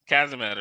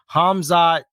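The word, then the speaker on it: Khamzat: Kazamet or something like that. Yeah, it's Hazma. I just had it. Kamzamet. Yeah, he's a beast. Though. No, you pronounce it Hamzat.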